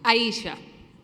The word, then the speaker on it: Aisha: Thank you, Miss Audrey Stith. Did I pronounce that correctly? Aisha. Good evening, everybody. Not even close.